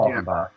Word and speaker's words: Falkenbach: It's pronounced Falcon, the bird, Bach, the conductor, yeah. Falkenbach.